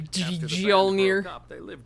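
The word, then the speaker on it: Mjölnir: That's right, with a squeaky me Mjolnir. Yep, that's how you pronounce it.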